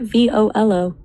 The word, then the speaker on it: Volo: What about V O L O V O L dot? It's two syllables. It sounds like volunteer or velocity.